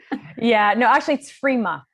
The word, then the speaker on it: Frimas: Yeah, no, actually it's Frima. We don't pronounce the S in French, so it's Frima. But everyone says Frimas, so don't worry about it.